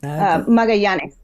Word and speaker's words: Magallanes: Magallanes. I can't pronounce it's Explorer Magellan who came through the Strait of Magellan in the 1500s.